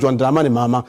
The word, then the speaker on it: John Dramani Mahama: But we have a new president and his name is different and it's not pronounced Akufo-Addo, it's pronounced John Dramani Mahama.